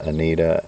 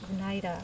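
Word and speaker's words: Oneida: Senica, Kyoga, Anadega, Tuscarora, Anidita, and Mohawk. It's pronounced Onida. Anida. You keep saying Onidita. Well, ei. I think it's Onida.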